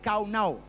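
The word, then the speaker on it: קָנָה: El verbo adquirir viene del hebreo caná. Caná. Se pronuncia literalmente, se escribe canaj, pero se pronuncia kaunau, ¿vale?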